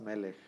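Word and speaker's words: מלך: y siempre que tengamos una K final con un sheva siempre va a ser mudo siempre va a ser quiente Entonces no se pronuncia mg se pronuncia nada más melej no este shev va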